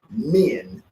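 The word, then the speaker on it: Min: called the pose of men men is spelled m-i-n this is a pose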